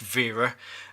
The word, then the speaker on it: Wera: sisters cousins out there I appreciate that this has probably pronounced vera and I'll try and pronounce it via as much as possible however I think because of I see the W is a w and not a V then I apologize if